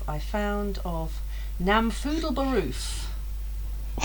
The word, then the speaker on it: Namfoodle Baroof: name I found of Namfoodle Baroof. I'd spell that. NAM FOODLE Just as it sounds.